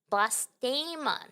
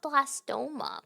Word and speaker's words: blastema: Blastema, not blasto. Blastema.